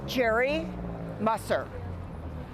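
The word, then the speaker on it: Geri Musser: And pronounce that? Jerry Musser.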